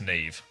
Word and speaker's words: Saoirse: Yeah, I have a friend whose name is this, and it's pronounced Neve.